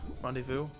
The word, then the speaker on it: rendezvous: Rendezvous. What is it? Rendevous. You don't pronounce the last like five syllables in every French word.